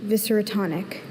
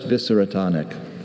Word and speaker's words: viscerotonic: Viscerotonic. Viscerotonic. Uh, are there any alternate pronunciations? Just visceratonic.